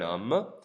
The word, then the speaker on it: homme: Notice the H in is silent. C'est un homme.